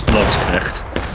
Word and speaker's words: Landsknecht: If you want a beautiful pronunciation, it's Landsknecht. Gotta put the real emphasis in the coffee part of your throat.